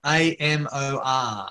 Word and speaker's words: Amor: So that's spelled A-M-O-R, Amor. Amor, which means love.